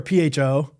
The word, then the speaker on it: pho: It's kind of like F or P-H-O.